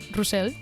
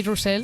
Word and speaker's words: Russell: My whole name is Angie Revolta Russell. We say Russell because okay.